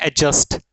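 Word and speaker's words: adjust: है यह होता है एडजस्ट एडजस्ट ठीक है ये आप ध्यान रखेंगे कि जे की वजह से यह जो डी है यह म्यूट हो जाता है साइलेंट हो जाता है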